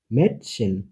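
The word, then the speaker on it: Mädchen: যেমন এর উচ্চারণটা হয় এর মতো করে, যেমন ম্যাটশেন, মেটি। ওর উচ্চারণটা হয়, উর উচ্চারণটা হয় ও প্লাস এর মাঝামাঝি, উ, শুন, সুন্দর, উ।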